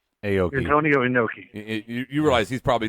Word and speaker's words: Inoki: Antonio Inoki.